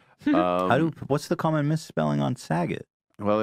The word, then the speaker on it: Saget: What's the common misspelling on Saget? Well, it rhymes with stuff, so I had a rough childhood.